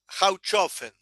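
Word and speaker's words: Hohlofen: En alemán se pronuncia algo parecido a howofen, pero más allá de cómo se pronuncia esta palabra, empieza con la letra H.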